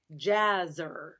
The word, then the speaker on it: Laser: big jazz pianist and so I said jazzer rhymes with jazz or Lazarus awesome yeah that's great